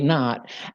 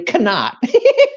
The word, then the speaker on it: Knott: uh so many people so many people see my name is spelled k-n-o-t-t and they call me shirley cannot surely cannot oh no but i tell i tell them it's not cannot it's not so anywho uh i'm